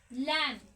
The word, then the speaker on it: lamb: बोलते हैं, बी है वो क्या होता है, साइलेंट। उसके बाद है LAMB, लैम, भेड़ का बच्चा होता है, इसका मतलब लैम मतलब भेड़ का बच्चा।